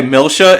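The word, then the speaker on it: Milcia: to protect my momos oh by the way milsha is spelled m-i-l-c-i-a i think that was quite odd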